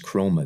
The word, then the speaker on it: Chroma: By the way, it's Chroma. That's CHROMA. That is Chroma. That's how it is spelled.